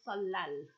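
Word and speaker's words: 설날: Western culture okay so ET Naman so yuk solal is January 1st ET Nam solal New Year's Day y um solal okay solal per pronunciation is salal okay so New Year's Day three days usually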